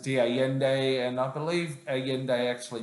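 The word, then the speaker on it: de Allende: they're number 12 now people call him diende but being it's a Spanish word and I pronounce it Di yende and I believe aende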